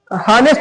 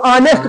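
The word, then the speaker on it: honest: एन आएगा ना क्योंकि इसको हम हनेस्ट नहीं पढ़ते इसको। ऑनेस्ट पढ़ते हैं। क्या पढ़ते हैं? ऑनेस्ट और ऑनेस्ट का उच्चारण आ रहा है वोवेल से आ रहा है।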